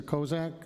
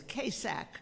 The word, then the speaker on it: Kasak: First speaker is Kozak.